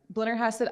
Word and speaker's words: Blennerhassett: Help me with the pronunciation. Yeah, Blennerhassett Island outside of Marietta.